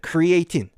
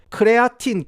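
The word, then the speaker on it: creatine: 크리에이틴. 한국에서는 이제 크레아틴이라고 합니까? 지금 영상에서 제가 입에 크리에이틴이 붙어가지고 크레아틴, 크레에틴 뭐 이런 식으로 이제 발음하겠지만은 이게 크레아틴이라고 생각하시면 되겠습니다. 아시겠죠?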